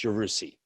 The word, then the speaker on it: Yarusi: Switched the R and the S around, so it's Yarusi.